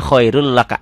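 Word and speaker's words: خير لك: Ditulisnya khairun laka, dibacanya khairul laka, n-nya hilang.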